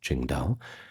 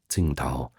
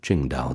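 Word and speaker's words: 青岛: Now, quick little fact about Ching Dao. You might have seen the uh Chinese beer brand Tingta. Now, that's the old name for it under the Wade Jio's pronunciation, but we call it Ching Dao these days.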